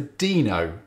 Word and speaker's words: Deno: i started calling it denno and so did ryan dahl in his early videos but most people seem to opt for dino and that's possibly because it's spelt the same as reno in nevada or because its logo